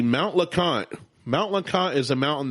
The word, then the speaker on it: LeConte: Number 3, Mount LeConte. Mount LeConte is a mountain that has, I hiked it in 2012 when I was skinny. LeConte. Yes. LeConte. Not how you want to spell it. Cunte.